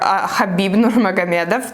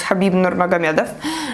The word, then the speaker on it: Khabib Nurmagomedov: is a quote by khabib or habib nurmagomedov the right way to say his name is khabib nurmagomedov and in this video